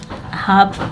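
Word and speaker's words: half: मीस अंधा हाफ आधा हाफ को भी एल साइलेंट रहता है ठीक है एफ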